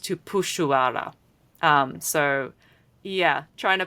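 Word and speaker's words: Tupuxuara: Unlike the family name that has an X in it, which in Portuguese in Brazilian Portuguese is pronounced like a sh.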